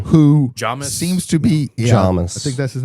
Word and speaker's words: Jamis: seems to be Jamis.